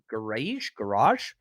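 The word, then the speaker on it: Gouraige: really did Richard uh garage um it's a soft G he's from Florida 64306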